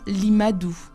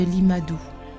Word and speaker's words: Limadou: Le son R étant inconnu, le nom de famille devient Li, car on ne conserve qu'une seule syllabe. Certaines sonorités étant absentes, Matteo devient Madou. Et l'usage chinois voulant que le nom précède le prénom, Matteo Ricci devient Limadou. Et c'est sous ce nom